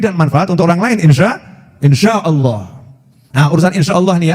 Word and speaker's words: insya Allah: Nah, tulisannya INSHA, tapi dia bacanya itu Insa. Oh, keliru nih itu ya. Oh, itu pakai shin, insya Allah.